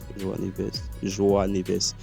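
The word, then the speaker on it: João Neves: Ok, et Joao Neves, c'est comme ça qu'on prononce. Joao Neves. Oui, c'est ça.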